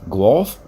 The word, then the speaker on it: Guelph: they got a terminal there in guelph gulf fiberfoil yeah i know you're probably wondering wait a minute boy down from the states and he pronounces that correctly glove yeah i drove for